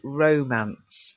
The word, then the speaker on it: romance: It's the feast of love and romance. So you've got a long O, romance.